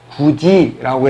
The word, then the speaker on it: 굳이: 우리는 이거를 쓸 때는 그 다음에 이라고 쓰지만 발음할 때는 어떻게 해요? 굳이라고 해서 디귿 받침이 위로 올라간 다음에 그 디귿이 뭐로 변합니까? 지읒으로 변하죠.